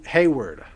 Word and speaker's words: Hayward: guy is a douche just like it's spelled yeah yeah that guy